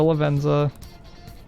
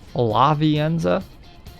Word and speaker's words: Lavenza: Talk to Lavenza. You know, I always thought it was Lavienza. Lavienza. But there's no syllable, there's no vowel after the N to make the Enza. Alright, it's La V Enza.